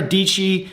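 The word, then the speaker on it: Dietschy: I think it was Sarah deechi she had rhymes with peachy yes so she had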